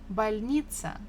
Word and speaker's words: больница: The stress falls on E. So if you are not sure, again, maybe you can't hear well, try to stress any other syllable. If you stress the first one, it will be больница. if you stress the last one, больница. And it doesn't sound the same as больница.